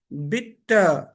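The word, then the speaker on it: bitte: फिर क्या करते हैं, इसको बोलते हैं बिट्टे, मिट्टे, डांके। बेसिकली ये प्रोनाउंसिएशन गलत है, ये बनता है बिटा, मिटा, डांका।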